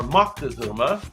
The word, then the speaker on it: Moctezuma: This is Montezuma, or Moctezuma, as some like to pronounce it.